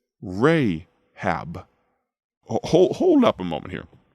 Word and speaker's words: Rahab: Rachab, or as the Old Testament pronounces it, Rahab.